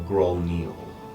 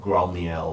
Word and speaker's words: Grolnil: You do recognize the name of Grolnil. Grolnil, or pronounced in other ones like Grolniel or Grolal. It's like a giant word that has changed over time. It is an ancient giant word.